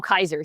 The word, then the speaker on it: Caesar: The one that she interacts, they call him Kaiser. Sorry, instead of Caesar.